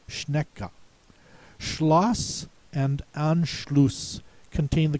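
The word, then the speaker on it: Schnecke: The pronouncer should sound out the e at the end of the word. It should not be a silent e. It should be schneeka.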